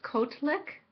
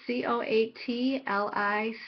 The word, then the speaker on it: Coatlicue: It says Kotlik. It's Coatlicue.